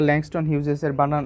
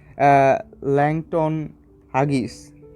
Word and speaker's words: Langston Hughes: তো এটার বানানটা আমরা অনেকেই ভুল করি, অনেকেই আমরা ল্যাংস্টন হিউজেসের উচ্চারণটা আমরা এইভাবে করি যে ল্যাংটন হাগিস।